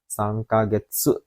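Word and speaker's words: 三ヶ月: Jadi sangkagetsu berarti 3 bulan pakai kagetsu, bukan gatsu lagi tapi jadi getsu kalau untuk menyebutkan jumlah bulan minasang.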